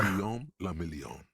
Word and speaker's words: Guillaume la Million: Guillaume la Million. A bit pale. If it doesn't rhyme, you're not pronouncing it right.